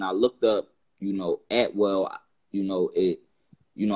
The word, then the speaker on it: Atwell: So when I looked up, you know, Atwell, you know, it, you know, I came to the a saying that saying is actually pronounced at will.